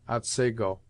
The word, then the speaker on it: Otsego: Thus the scene of this tale is spelt Otsego, and is properly pronounced Otsego.